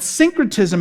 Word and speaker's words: syncretism: you're saying it wrong synchrotism like like like think like syncing things like syncing your your your your phone to your car or singing you're lining them up but syncretism is a religious term